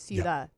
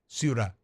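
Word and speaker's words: ciudad: So, real quick, because I know you like to pronounce things correctly, it's suda. Saud. That's tough for me. Okay. Suruda suda. You're not saying the U. Su that. Sudan.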